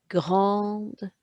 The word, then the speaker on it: grande: Listen how I pronounce that. Une grande main verte. Une grande main verte. Can you hear me pronouncing the D and the T there?